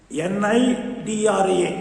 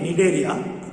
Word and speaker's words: Cnidaria: Ikkada C silent. NIDRA, Cnidaria. But you must write the C. That is silent.